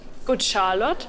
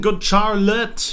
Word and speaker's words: Good Charlotte: Good Charlotte. Oh nein! So spricht man's nicht aus. Spricht man's nicht so aus? Nein, Good Charlotte. Hauptsache ein Tattoo, aber nicht mehr richtig. Englisch. Good Charlotte heißt das.